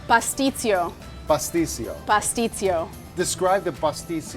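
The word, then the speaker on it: pastitsio: Pasticcio.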